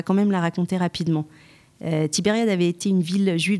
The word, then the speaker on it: Tibériade: de tibériade de veria alors tibériade le prononcé à la française tibériade où les juifs espagne